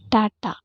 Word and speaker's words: TATA: box and ca80 box Tata box pronounced as Tata or Goldberg hogness box